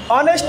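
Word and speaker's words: honest: বসে, এন বসে না, কারণ তখন এইচ উচ্চারণ হয় না, তখন এন বসে।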